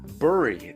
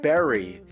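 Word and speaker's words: bury: doing wrong this time it's bur but everyone else says Berry it's spelled with a u why wouldn't it be burry there is cuz the English language acts like that sometimes James that's why Barry but that's a different word and it's clearly spelled with an E not to mention an extra R which doesn't seem to affect anything this is burri that's Barry if we have two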